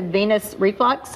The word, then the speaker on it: venous reflux: uh these can cause it can lead to venous reflux also is that how you pronounce that yes that that that um blood